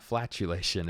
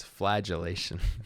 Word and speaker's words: flagellation: that thank you now it's not flatulation it's flagellation yeah let me make